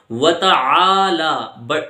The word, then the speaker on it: وتعالی: سے بچیے۔ وتعالی جدک، اس کا صحیح تلفظ دیکھیے، وتعالی، عین ہے، یہ حلق سے نکلتا ہے، اس کی بھی